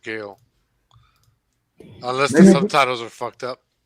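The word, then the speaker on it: Gaal: and no i or gal you could pronounce it gal gal girl there's no it's gayle two a's no i yeah it's g-a-a-l what they pronounce it gail unless the subtitles are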